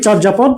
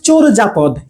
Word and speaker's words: চর্যাপদ: আমি উচ্চারণ করি চর্যাপদ, কিন্তু এটা হবে চোরজাপদ।